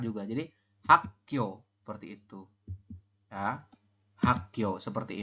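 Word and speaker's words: 학: Hak dibacanya adalah hak seperti itu.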